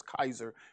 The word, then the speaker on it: Caesar: caesar or the kaiser that's pretty much how they they pronounced it was kaiser we say caesar but they got yeah